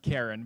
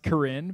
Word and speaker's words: Karen: my goodness sound it looks like it'd be pronounced Karen but it's there's just they use another alphabet